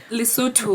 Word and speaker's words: Lesotho: you say that in the suit please lately lesotho yeah that is listen to that lesson okay